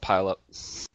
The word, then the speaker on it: Puyallup: pronounce it. The Puyallup, correct name that's is, it. Puyallup. Locals Okay. call it Pile Up.